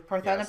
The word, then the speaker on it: Parthenope: Parthenope yes.